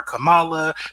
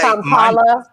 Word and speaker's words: Kamala: People have mispronounced her name. They call her Kamala, all these things, and she will stop immediately and say, Kamala. She will stop them immediately and say, "My name is Kamala."